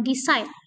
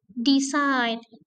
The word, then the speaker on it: decide: Relax decide decide bukan decide but decide.